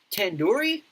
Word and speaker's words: tandoori: it wrong wait really tandoori tan do read the do isn't like a door it's like due to head are you